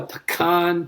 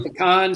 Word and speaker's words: pecan: When we planted outside Chicago, Shelby took a pecan pie. And you can also tell where somebody's from by how they pronounce it. Some say pecan, some say pecan.